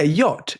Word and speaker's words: yacht: Yeah, yacht is Y-O-T, yacht, right?